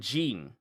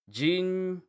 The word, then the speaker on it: Ging: So they're calling him Jean as in a J I N. Jean.